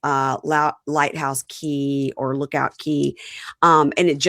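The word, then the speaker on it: Cay: Do you say K or key? Key. I think it's key.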